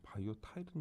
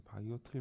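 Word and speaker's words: volatile: 이 발음 보니까 난 바이오 타일인 줄 알았더니 바이오 틸 메모리라고 휘발성이라고 되어 있는데 뭐 속도는 SRAM이 뭐 빠르죠.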